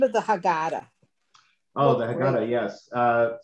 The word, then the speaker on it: Haggadah: say rabbi i love this i got that haggadah yeah did i say it properly yes uh-huh